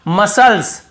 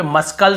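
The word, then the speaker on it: muscles: यहां पर भी देखिए मसल्स मसल्स मसल्स यहां पे मस्कल से नहीं पढ़ रहे यहां पर भी सी सेलेंट है फिर देखिए सीजर्स सीजर्स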